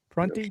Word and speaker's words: Prunty: Prunty. That's how you pronounce it.